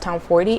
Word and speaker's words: Tomforde: talk about is The Right Move by Liz Tom 40. I saw on IG live with her and she says it's pronounced Tom 40 and that everybody pronounces it wrong so keep